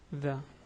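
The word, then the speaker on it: ذ: The pronunciation is the. Yeah, if you noticed, it's exactly as you say the in English.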